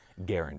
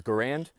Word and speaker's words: Garand: of his name being pronounced was Garand, as in errand.